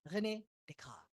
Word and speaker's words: René Descartes: Saya mengambil ini satu parodi dari pernyataannya René Descartes. Ya. Cara bacanya begitu toh gitu ya. René Descartes.